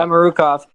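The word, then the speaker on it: Samorukov: Samarukov, yeah. Samarukov.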